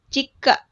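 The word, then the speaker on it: 実家: Tapi di sini bacanya ini adalah jika. Jika.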